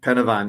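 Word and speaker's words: Pen y Fan: Is that how it's pronounced? Yeah, Pennyfan, yeah.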